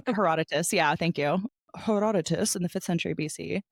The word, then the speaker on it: Herodotus: in the fth century BC by a philosopher herodias again I'm just like butchering all these names I don't know how to say Herodotus yeah thank you Herodotus in the fifth century BC Greece he described